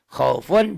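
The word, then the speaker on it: خوف: Khaufun jika dihentikan khauf. Wasaifi dihentikan jadi wasaif.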